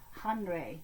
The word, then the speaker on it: Henri: Well, we're back in France again and we're learning about Henri Matisse. It's spelled Henri, but in French they don't pronounce the H the way we do. It's more Henri Matisse, the French artist.